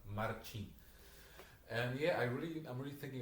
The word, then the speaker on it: Marcin: It's And pronounced Marcin.